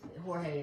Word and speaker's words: Jorge: So, but the Jorge is the Spanish pronunciation of George.